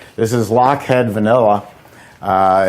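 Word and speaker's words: Lochhead: mention what it is she's right this is lockhead vanilla uh it's a company that specializes in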